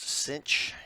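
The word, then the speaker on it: sinh: this hyperbolic sine function this is pronounced cinch and it's probably been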